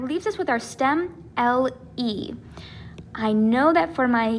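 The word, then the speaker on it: lee: so this is correct it is pronounced le not li all right but i'm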